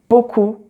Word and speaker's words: beaucoup: So you have some words like beaucoup, trop, sirop, drap, sept, and there the P is silent, but you have sleep, and then the P is pronounced.